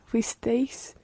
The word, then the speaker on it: fuisteis: Fuimos, fuisteis, fueron. Muy bien. Fuisteis. Watch the stress there.